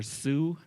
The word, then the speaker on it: Sioux: long time ago so the French couldn't say not away soon they started calling that tribe the Sioux Tribe so that is why if you meet someone who is believed to be from that tribe and you ask them if they are Sue they will tell you